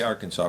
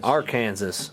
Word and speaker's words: Arkansas: stuff there I'm sure how do you say Arkansas Brandon AR Kansas nope guess what it's illegal